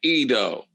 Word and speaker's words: Ido: Ido. That's how you pronounce his name, Ido.